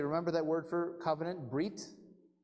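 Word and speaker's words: ברית: By the way, remember that word for covenant, brit? If you pronounce that in Ashkenazi-style Hebrew, it would be bris.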